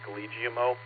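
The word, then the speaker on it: Guglielmo: Lucy is telling me it's Galigimo, Marconi.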